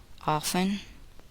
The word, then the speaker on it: often: The letter T is silent in the following words. Listen and repeat each word after the speaker. Often, listen, fasten, hasten, mortgage, mustn't.